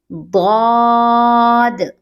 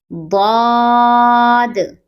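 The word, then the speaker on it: ضاد: will pronounce it like Daad, Daad. Another letter starts with D sound, this one. It was Dal. And this letter, Daad. The same sound but with round lips.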